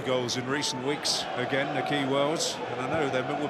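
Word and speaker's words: Nahki Wells: you may be wondering why we're calling him Nakhi Wells. Well, that's because he has said that's how he likes his name to be pronounced, so don't blame us.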